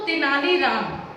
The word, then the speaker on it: तेनालीराम: तो तेनालीराम, आप उनको तेनालीराम भी बोल सकते हैं, तेनालीरामा भी बोल सकते हैं। तेनालीरामा वो चूंकि आंध्र प्रदेश के थे, इसलिए उनके नाम में रामा लगा हुआ था। तेनालीरामा वहाँ उच्चारण होता है।